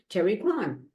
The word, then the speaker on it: Kerry Krahn: I'm so excited because as you can see, somebody's here in my Zoom room with me, and this is a business owner, Kerry Krahn.